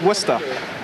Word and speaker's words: Worcester: the seven hills of worcester massachusetts and that's pronounced worcester informal fast-moving exciting action-packed as in ice cat